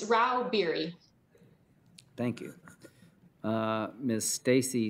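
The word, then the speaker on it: Rau-Bieri: how do you say your name ma'am it's Ral beer thank you uh Miss Stacy leral lobbyist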